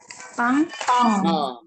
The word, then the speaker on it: 빵: 빵. Jadi 더블 배야. 콘소난 가붕한 더블 배. Jadi ini 뿌. 뿌, 아, 보컬 아, lalu ada 응nya. Jadi dibacanya 빵.